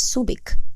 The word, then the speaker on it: Subic: enjoy curating it introduction originally named hubc by the local zambal inhabitants meaning head of a PLO the area was later mispronounced as Subic by Spanish missionary priests during the American occupation Subic evolved into subing and eventually the name reverted to Subic but with the letter Q replaced by C Subic Bay was originally